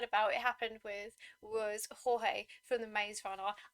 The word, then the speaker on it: Jorge: it happened with was Jorge from The Maze Runner. I kept calling him George, and then the movie came out and they were like, Jorge, and I'm like, who's Jorge? Where's George?